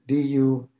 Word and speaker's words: dukkha: it then we have dukkha hear spell d-u-h-k-a-j the poly spells it d-u-k-k-h-a so that first h turns into a k and of course it's